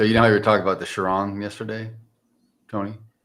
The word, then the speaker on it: Chiron: So, you know how you were talking about the Chiron yesterday, Tony? The what? The Bugatti. The Bugatti Shiron. Chiron. Yeah. Yeah. Chiron. Whatever. Whatever.